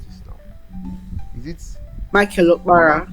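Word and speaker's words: Michael Okpara: She graduated from the University of how do I pronounce this now? Is it Michael Opara? Michael Opara University.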